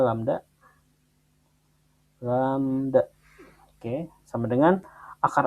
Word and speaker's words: lambda: Ini dibacanya lambda.